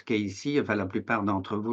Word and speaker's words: Cayce: bienvenue bien sûr c'est Edgar Ky donc on prononce Ky enfin la plupart d'entre vous le savent puisque je vois qu'il y a beaucoup de membres de les Haris ou de groupe de Ky et ceux qui le savent pas donc ça